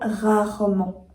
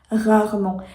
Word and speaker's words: rarement: ou même le mot rarement rarement c'est un mot un peu plus compliqué parce que on a deux fois le son r rarement rarement ensuite les voyelles